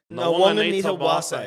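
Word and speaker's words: Nawaqanitawase: So it's Nawong You know, Sisawana? Nawong. Yeah. Anita. Anita. Wase. Wase, yeah. Nawong, Anita, Wase.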